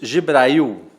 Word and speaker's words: Gibrail: Tem aqui comigo no estúdio da Fontana Filmes, aqui em Campinas, ele, um amigo, Gibrail. Está correta a pronúncia?